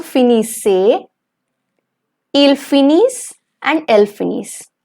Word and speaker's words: finissent: Nous finissons, vous finissez, ils finissent, and elles finissent. The ENT towards the end, it's going to remain silent.